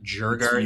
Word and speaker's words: Djurgården: I got to pronounce that correctly because it sounds really bad if you don't pronounce the R, because then it just kind of sounds like you're saying Jew Garden instead of It's Djurgården.